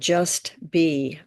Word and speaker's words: JusBe: it to be wonderful it's called just be meditation and it's spelled jusbe it's also a mantra